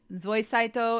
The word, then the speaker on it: Zoisite: we'll get to it Zoi site is technically pronounced SOI Saito in Japanese and the deep dub